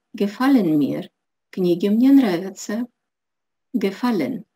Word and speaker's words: gefallen: фольмер книги мне нравятся gefallen ударение на корень слова das bild be held